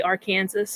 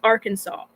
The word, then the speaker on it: Arkansas: it was actually against the law to say Arkansas because everyone was pronouncing it that way they're like no it's Arkansas but if you're talking about the citizens of